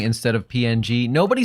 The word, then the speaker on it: PNG: Hike says, or ping instead of PNG.